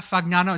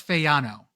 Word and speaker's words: Fagnano: Last name is not Fagnano. It's Fyano. The G Fano.